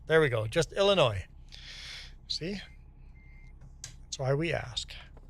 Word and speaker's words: Illinois: So you're from Illinois yourself and the S is silent. There we go. Just Illinois.